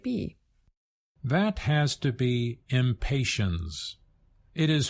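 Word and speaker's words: impatiens: that has to be impatience it is pronounced impatience with a z sound that's because it comes directly from another language Latin but as our listeners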